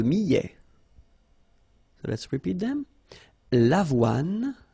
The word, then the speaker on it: avoine: L'avoine. Remember, don't insist on the final E. L'avoine.